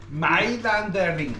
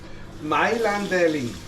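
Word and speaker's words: Mailänderli: Mailanderling. Close enough. Mailanderling. Without the N at the end. It's Mailanderli. Mailanderling.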